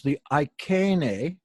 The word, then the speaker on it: Iceni: Probably the most powerful tribe was the Iceni. That's spelled I-C-E-I-I, the last I is plural.